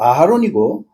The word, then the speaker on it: 아하론: 그다음 아론이 아니고 아하론이고 훌이 아니고 후르라고 발음하는 내용들을 다들을 수가 있다 이겁니다.